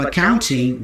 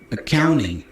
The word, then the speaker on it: accounting: Notice that we have the N-T combination there. Usually, especially in American English, that T goes away, so we pronounce the N instead. So instead of accounting, we hear accounting. The first A there is a schwa sound, by the way.